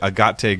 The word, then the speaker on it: Agate: I think it includes your favorite, Agate Gray. Yep, agate, Italian pronunciation.